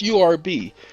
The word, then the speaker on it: herb: it's not herb I mean herb it's herb pronounce urb as a matter of fact young man started